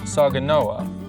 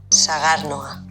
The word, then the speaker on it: Sagardoa: Forgive me if I get this wrong, but it's called Saganoa. Almost. We'll play you how it is really pronounced. Sagarnoa.